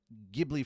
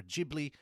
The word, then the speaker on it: Ghibli: Castle, and many other Ghibli films, or Ghibli. It's pronounced Ghibli in Japan, but we say Ghibli here sometimes. It can be either or as far as I'm concerned.